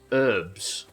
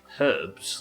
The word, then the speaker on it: herbs: By the way, I'm not saying herbs instead of herbs like we would say in this country because I've opted for the American pronunciation. That's a ding level 10. I'm saying herbs because I'm a lazy Yorkman that doesn't pronounce his hes.